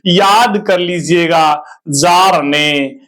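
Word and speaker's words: Bjarne: थी याद कर लीजिएगा जार ने बी साइलेंट है स्टड स्ट्रप स्टड स्ट्रब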